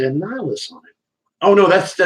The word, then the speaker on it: Annihilus: I thought it was supposed to say Annihilus on it.